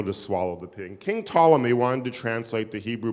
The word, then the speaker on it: Ptolemy: English we don't pronounce emphalomy because in English we don't like Words that start we call them Ptolemy the p is silent Aaron pankin this is